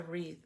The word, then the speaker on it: wreath: She made one, a wreath. Am I saying it right? Right? Teeth, wreath.